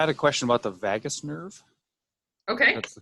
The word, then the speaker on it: vagus: I had a question about the vagus nerve. Okay. That's the correct pronunciation.